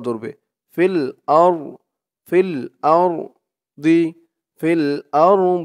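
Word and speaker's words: في الأرض: Feel আর feel আর দি feel আর দি, এই যা চিহ্নতে থামলে বলতে হবে ফিল আরদ ফিল আরদ, এরকম করে বলে থামতে হবে।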